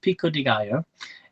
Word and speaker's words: pico de gallo: pico de gallo salsa it's pronounced pico de gallo it's a play on